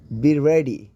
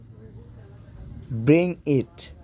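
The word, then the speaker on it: bring: হওয়ার ইংরেজি হচ্ছে বি ব্রেভ অর্থাৎ সাহসী হও বি রেডি বি রেডি অর্থাৎ তৈরি হয়ে নাও রেডি অর্থ কি তৈরি হওয়া আর বি অর্থ হওয়া বি রেডি অর্থাৎ তৈরি হয়ে নাও ব্রিং ইট বি আর আই এন জি ব্রিং অনেকেই কিন্তু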